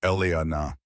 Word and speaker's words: Elena: He pronounced it fully. Three syllables. Elana. The way her grandmother used to say it. Not the abbreviated Ellie everyone else used.